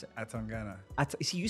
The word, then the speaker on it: Atangana: friend, and also a super talented boxer, Atangana. I need to pronounce that properly. how do you pronounce it? Atangana.